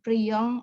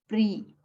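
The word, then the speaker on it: prient: Orang ketiga jamak itu tidak disengaukan di akhir, jadi bukan priant atau soutiennent, tapi soutien et prie.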